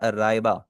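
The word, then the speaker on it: ライバ: क्योंकि जापानीज में L exist नहीं करता, जो भी वर्ड एल से एंड हो रहा होता है उसको वो चेंज कर लेते हैं आर में। ठीक है, जैसे अगर किसी का नाम लाइबा होगा ना, किसी का नाम अगर लाइबा हो, तो उसे जापानीज में क्या पढ़ा जाएगा? उसे पढ़ा जाएगा राइबा। अगर जापानीज में नाम है अली, तो उसे बोला जाएगा आरी।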